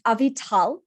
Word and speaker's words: Avital: So we have with us a special guest today, Avital. Did I pronounce that right? Almost. It's Avital.